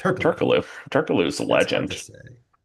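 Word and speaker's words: Türkoğlu: basketball reference is saying you don't say the the the G Turkaloo tur Turkaloo Turkaloo is a legend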